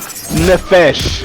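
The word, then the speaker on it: נפש: this point this is the Hebrew word nefesh that's how it's pronounced feminine noun KJV translates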